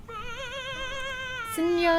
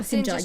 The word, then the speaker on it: Sinja: Sinja I'm Strongmind. Sinja. Oh, Sinja, you're pronouncing the J.